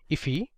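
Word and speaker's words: IIFE: 35 so this is known as an immediately invoked function expression or iif which is often pronounced as ify now you can also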